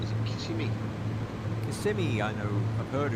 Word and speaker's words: Kissimmee: To me, it looked like Kissimmee, but then somebody said no, it's Kissimmee.